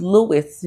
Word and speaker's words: Louis: It's the word is pronounced Louis because it's named after a man named Louis. Okay, so we need to do that.